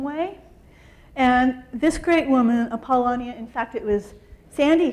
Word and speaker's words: Apollonia: And this great woman, Apollonia, in fact, it was Sandy who taught me how to say her name correctly.